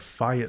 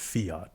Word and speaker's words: fiat: Mercury is the god of fiat money. Some people call it fiat, but it's actually pronounced fiat.